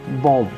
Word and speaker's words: bomb: The first category of silent letter is B. So first word is bomb.